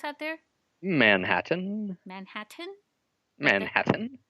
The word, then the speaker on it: Manhattan: Manhattan. Manhattan? Manhattan. Like the Mad Hatter?